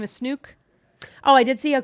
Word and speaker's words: Snook: Apparently, her name is Snook. Oh, I did see a clip of her explaining why or how to pronounce her name. It's Snook.